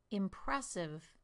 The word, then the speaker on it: impressive: Here are some three-syllable words: industry, impressive, understand. In the first word, I stress the first syllable, the second word, the second syllable, and the third word, the third syllable.